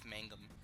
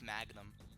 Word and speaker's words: Mangum: Aeroplane Over the Sea, his name is Jeff Mangum, and I always pronounce it Jeff Magnum.